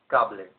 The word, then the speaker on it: cable: Now that cable becomes cable because the A in Spanish is pronounced A, therefore cable.